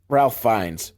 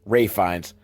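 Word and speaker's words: Ralph Fiennes: william neeson's wife or was it ralph finds ray finds however you you ray finds your name is spelled ralph this is probably the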